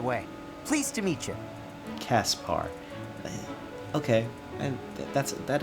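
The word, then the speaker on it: Caspar: bar by the way pleased to meet you Kaspar okay and that's it that is me that is how it's pronounced Linhart goodbye Lyn our how'd you get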